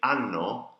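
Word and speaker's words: hanno: unknown now notice that when I say unknown I'm not pronouncing the age that's because in Italian that very very few words with the age in front of with the H in front the world and they're always like mute you one pronouncing so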